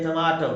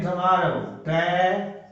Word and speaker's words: tomato: टोमेटो कहते हैं ना, ये टमाटो, टमाटो, टो, टो, औ डिप्थोंग है, टमाटो, औ, टमाटो।